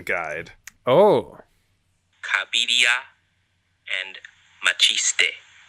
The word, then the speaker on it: Cabiria: Speaking of, I've just received a pronunciation guide. Oh, Cabiria and Machiste.